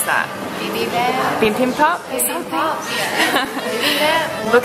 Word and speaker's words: bibimbap: And that, how do you pronounce that? Bibimbap.